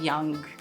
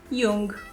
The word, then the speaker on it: Jung: there you can read car gustav young jung depending on how you want to pronounce it to understand more about